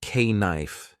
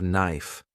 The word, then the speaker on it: knife: People laughed when I said k knife instead of knife.